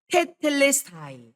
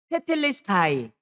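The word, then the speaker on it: τετέλεσται: 여러분 이거는요 헬라오로 뭐냐면 테텔레스타이 한번 따라해 보세요. 테텔레스타이 조금 어렵죠 발음이 테텔레스타이 바로 헬라어로 예수님께서 마지막 다 이루었다.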